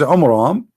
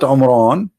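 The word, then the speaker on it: Amram: the father of Moses which is AMRAAM not Imran Imran wrong now sation wrong name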